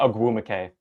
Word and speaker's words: Ogwumike: Pronounce the name one more time for me. Nneka Ogwumike. Agumake.